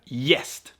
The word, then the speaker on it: gäst: But in front of the so-called soft vowels, mjuka vokaler, as we say in Swedish, which are E, I, Y, Ä, and Ö, it's pronounced like Y.